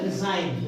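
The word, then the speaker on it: resign: जी का प्रोनाउंसिएशन हमने उच्चारण नहीं किया। क्लियर? फिर है रिजाइन।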